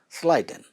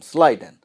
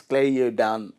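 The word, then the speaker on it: Schleiden: sliden here spelling to remember spelling you can pronounce anyway but when you speak about this name you have to say what sliden easy to tell his name sliden not clay you down like that yes sliden and next one is Rudolph P here not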